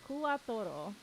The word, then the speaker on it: Kuwatoro: Oh, Quattro and Kuwatoro. I suppose somebody on the page did like the English but sounds Japanese, like quattro, but really it's Kuwatoro.